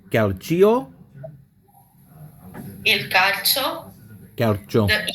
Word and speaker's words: calcio: So, and that word, how's it pronounced? One more time. Calcio? Calcio.